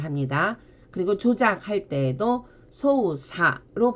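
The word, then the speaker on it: 操作: 그리고 조작할 때도 소우사로 발음을 하고 보통 음독이 두 개인 경우에는 주로 한쪽을 많이 쓰고 어쩌다 예외적으로 하나를 또 다른 발음으로 많이 합니다.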